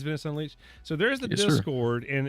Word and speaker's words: Venice Unleashed: Is it called Venice Unleashed, or am I pronouncing that wrong? No, you're saying it right. Okay, it is Venice Unleashed.